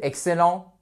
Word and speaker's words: excellent: pour vous very good excellent excellent excellent very nice accentuation sur la première silab also and then we